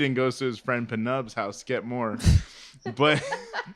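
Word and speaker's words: Pnub: No, it's literally Penub. That's how they pronounce it.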